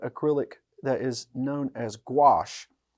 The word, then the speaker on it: gouache: that is known as gouache. So how that's spelled is G-O-U-A-C-H. When I first saw it, I mean, I still have trouble, but I think of a squash and gouache.